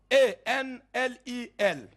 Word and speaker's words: Enlil: Leur nom, Anu, A-N-U, Anu, ou Anu, c'est votre affaire, prononcez comme vous voulez. Le deuxième dieu, c'est Enlil, E-N-L-I-L, Enlil.